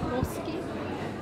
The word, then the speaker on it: Poskem: It's called Poske. Well, it's Posken, but Poske is the pronunciation.